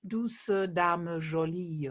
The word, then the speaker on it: Douce dame jolie: verse do sudama so we we are pronouncing um the ease at the end this is something you do in modern french as well in songs um that we uh unlike the spoken uh way we do pronounce the ease at the end as a sort of neutral vowel and as an uh